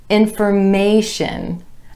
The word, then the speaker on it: information: When we add our TION ending, we get information, information. Again, the stress shifts to that A vowel sound right before the TION ending, information.